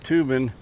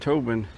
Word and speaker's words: Tobin: I used to pronounce that Tubin, but the people with the city pronounce it Tobin, so I guess they know what they're talking about.